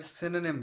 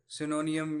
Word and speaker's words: synonym: तो पहले ये मैं बता दूं कि वर्ड सिनोनिम है, सिनोनियम या इस तरह का कोई और नहीं है, जैसा कि मैंने कुछ बच्चों को बोलते हुए सुना है। द वर्ड इज सिनोनिम, इसकी प्रोनाउंसिएशन ऐसे है।